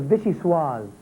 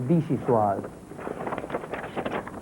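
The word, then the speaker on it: vichyssoise: Answer is vishuis or vichiwis.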